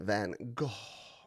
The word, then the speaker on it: Van Gogh: That was Vincent van Gogh.